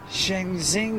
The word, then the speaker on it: Shenzhen: No, that's like Shenzhen or Capital.